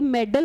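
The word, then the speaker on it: meddle: चलिए फर्स्ट है मेडल और मेडल। एकदम सेम प्रोनाउंसिएशन है। मेडल होता है पदक और एम E double D एल ई मेडल होता है टांग अड़ाना।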